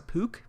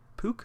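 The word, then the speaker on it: Puch: i have no idea i think it's a pook p-u-c-h puke i think is how you pronounce it the style of bike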